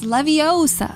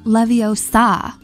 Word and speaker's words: Leviosa: buy the book please it's Leviosa not Leviosa I think we all know who broke down those syllables Hermione Granger is one